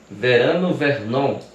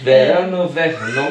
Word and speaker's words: Verano Vernon: Lima, mas que tem o nome artístico de Verano Vernon, não é isso? Acertei a pronúncia? Acertou. Chique esse nome, gente. Verano Vernon.